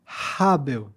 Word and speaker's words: Abel: Os nomes não tem muita diferença assim, pro português, mas Habel. Até assim, a própria pronúncia é muito mais o ar, né? É aberta.